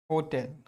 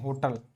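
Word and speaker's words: hotel: एक वर्ड है होटेल, है ना, देखो ये वर्ड है होटल, आप इसको प्रोनाउंस करते हैं होटल, ये होटल नहीं होता है, ये होता है होटेल, का जो प्रोनाउंसिएशन होता है वो होता है हाउ, हाउ टेल, होटेल। हमने कहा इट इज होटेल, इट इज अ होटेल नॉट होटल, इट इज अ होटेल,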